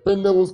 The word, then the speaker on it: Pinnell: in a case popularly referred to as the Pinnell's case. Pinnell is spelled P-I-N-N-E-L, apostrophe S.